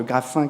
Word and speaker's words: Graffin: Je précise, Graffin, que vous êtes délégué au développement durable et à l'expertise au Muséum national d'histoire naturelle.